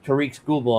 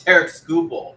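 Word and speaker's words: Tarik Skubal: So the top target is Tariq Schoolball, obviously. Right? No. It's Tarek Schoolball. You gotta pronounce it way wrong.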